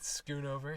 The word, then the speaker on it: Schoonover: Is that how you say it? Schoonover. Schoonover? I've been saying it wrong this whole time, dude.